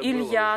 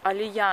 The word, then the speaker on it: Илья: А, мне ну, кажется, Илья уже, тоже, да? Наш сын Илья. Его тоже никогда не могли произносить. Алия они говорят.